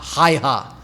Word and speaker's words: Häyhä: Häyhä.